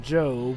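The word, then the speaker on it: Gob: Actually, Dwibs, his name is pronounced Job.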